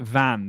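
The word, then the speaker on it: Vannes: I can't is it I think you pronounce it van the town is Van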